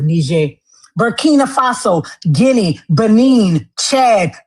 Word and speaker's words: Niger: That's why they call it Niger. That's why they pronounce it like that, because that's the French pronunciation of it, Niger.